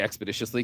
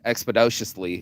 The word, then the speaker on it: expeditiously: on shirts expeditiously or I say expeditiously because that's how you say it she says expedo justly or something like that and I went you mean